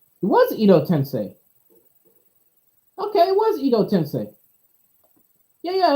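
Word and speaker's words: Edo Tensei: just that that guy that prefers the Japanese pronunciation it was Ido tensei you know tensei yeah yeah I'm tripping when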